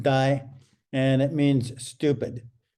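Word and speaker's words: 呆: This character, the one you see on the top, it's pronounced die, and it means stupid.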